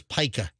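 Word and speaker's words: pica: fraternity house isn't it I thought it was Pika so go to m-w and type in Pike a p-i-c-a is how you pronounce it okay go to that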